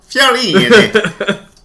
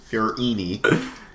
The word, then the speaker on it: Fiorini: Why don't you say it properly now? Fiorini. Fiorini. He's Italian.